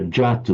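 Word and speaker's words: jātu: You sounded that, you pronounced that jatu, almost it was written in, remember, jatu, not a yatu, jatu.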